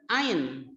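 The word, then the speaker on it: عين: Ketika huruf ain dikasih harokat patah berbunyi ai. Ketika dikasih harokat kasroh, huruf i berbunyi i. Huruf ain berbunyi ai. Kemudian ketika dikasih harokat doma, huruf alif berbunyi u dan huruf ain berbunyi u.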